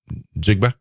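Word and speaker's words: Njigba: How do you pronounce his last name? Jigba.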